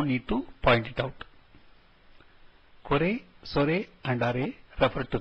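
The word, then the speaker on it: これ: Please note the last letter E is actually pronounced as A, and so these should be pronounced as kore, sore and are and not as kor, sor and are.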